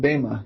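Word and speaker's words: Böhme: Yeah, it's Jakob Bema.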